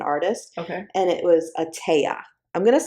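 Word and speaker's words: Etteilla: It's e t e i l l a. It's French. I believe it's a tea.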